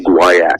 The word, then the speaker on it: guaiac: So, for example, the first thing we typically do is we do what's called a stool guaiac. And guaiac is a way, that's spelled G-U-I-A-C, or maybe I missed a U in there, G-U-I-U-A-C.